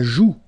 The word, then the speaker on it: joue: La joue. La joue. Final E not pronounced here.